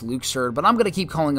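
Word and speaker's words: Luxord: moment for me and I know it's technically pronounced Luke surd but I'm gonna keep calling him Luxor because that's what I've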